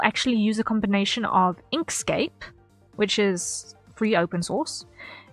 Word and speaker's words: Inkscape: Inkscape. So like landscape.